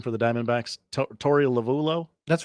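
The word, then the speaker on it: Torey Lovullo: of Sil questions and look how do you pronounce this uh manager's name for the Diamondbacks to Tori lavulo that's right okay he is doubled down on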